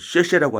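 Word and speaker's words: 謝: 우리가 그 생큐를 응 그 중국 사람들은 쉐라고 하잖아요. 그 그 어 감사할 사자를 써 가지고 응 씨라 그러는데 우린 사라고 발음하지만 중국 사람들은 쉐라고 바음거든요.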